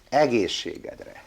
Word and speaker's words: egészségedre: Egészségedre.